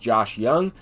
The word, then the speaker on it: Josh Young: This card is pronounced Josh Young, and I'll try and get a lot of these names correct.